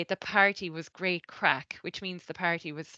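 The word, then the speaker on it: craic: crack and it's um it's spelled like this but it's pronounced like the English word crack and um it's probably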